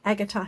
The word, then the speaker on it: agate: It's it's print it's spelled pink agotar here but it's agot.